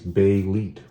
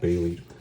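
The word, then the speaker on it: Bêlit: And there's the comment right there, pronounced by us anyways, Belit. That's important.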